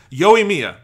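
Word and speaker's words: Yoimiya: say it wrong again yo mia there we go yo yo like good like yo and then mia like at me i don't know what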